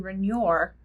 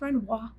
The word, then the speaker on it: Renoir: by pierre gusta renoir for a long time i pronounced his last name renoir but it's renoir all right in this